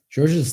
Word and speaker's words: Georges: can say George okay in France we say just George we don't pronounce the S okay well thank you